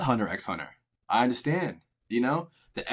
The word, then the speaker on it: Hunter x Hunter: Mind you, it is Hunter x Hunter. Yes, there is an X, but it's pronounced Hunter x Hunter.